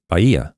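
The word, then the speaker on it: Bahia: sleeping next to a Brazilian and so she pronounces it Baya okay and if you look it up on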